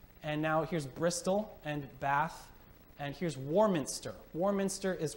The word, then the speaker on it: Bath: That's how they always pronounce it. You can't say Bath. They know you're an American if you say Bath. They all say Bath.